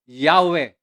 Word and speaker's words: Yahweh: pero alam natin na ang pronunciation yyan ay maliwanag ayon sa History ayon sa mga tradisyon ng israelita sa mga tunay na nakaunawa at nagsaliksik yahwe ang tunay pong bigkas niyan Sabio by yourself are